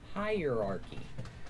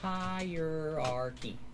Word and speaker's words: hierarchy: It it's pronounced hierarchy. Hierarchy. Four syllables. Not hierarchy, not three, but four.